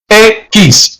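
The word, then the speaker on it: equis: X. E-Q-U-I-S. That's the basic pronunciation. X. That's how you say X. But X is a bit debatable. It's debatable because some persons in Spanish pronounce it like a CH.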